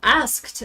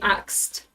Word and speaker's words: asked: For example, asked. I I hear that a lot lately. Um I watch some of the channels on YouTube and people just say axed. What are you axing? Where's your axe? Just pronounce it properly.